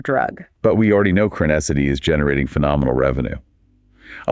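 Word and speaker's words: Crenessity: Yes, Crinacety. On the earnings call, I noticed the executive sometimes pronounced it Crinacety or Kinacety, but however you phonetically sound it out, this new drug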